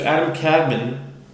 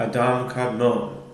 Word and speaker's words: Adam Kadmon: of man, is called Adam Kadmon. And you'll hear it pronounced Adam Kadmon. That's just the anglicized version of how it's pronounced.